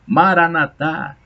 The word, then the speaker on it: Maranata: paulo vinde senhor jesus maranata o assento a última sílaba como dizem os doutores da igreja a maranata vem senhor